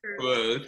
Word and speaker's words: Cruz: And today we have director Ryan Lathan and actress Jackie Cruz. Look, did I say that? I tried to use the Spanish pronunciation. I like it. I like it. This Cruz is fine, Cruz.